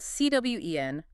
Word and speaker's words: Cwen: In Old English, that was spelled C W E N, Cwen. Cwen? Wow, so the pronunciation is what? Nearly identical to what we say today?